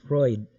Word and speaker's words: Freud: Wag po ninyong sabihing mali ako sa pronunciation apelyido mo ha. Apelyido po ha. It's, kung titingnan natin parang kakaiba, no? It's Freud, Sigmund Freud, ang kanyang tunay na pangalan.